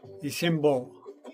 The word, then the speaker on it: Ishimpo: Ishimbo.